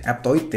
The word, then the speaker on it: Aptoide: Bacanya gimana sih? Aptoide ya.